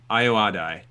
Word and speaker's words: Ayoade: Ayoade.